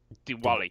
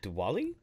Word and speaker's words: Diwali: festival of the wila the wali the wali Diwali dude Diwali Diwali yeah Diwali I mean I know as